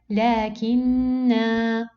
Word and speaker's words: لكن: So in this case, in case of stopping on the word, I cancel the effect of the oblong zero and I pronounce the letter normally. لكن. Okay, but in case of continuing in recitation, no. Here I have to cancel the letter because it has oblong zero.